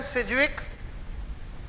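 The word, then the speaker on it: Sidgwick: जानते आवाज अपन पढेंगे इंग्लिश में बोलते हैं मैं यहां पर डी साइलेंट होता है सिजविक कि इफेक्टिव एटॉमिक नंबर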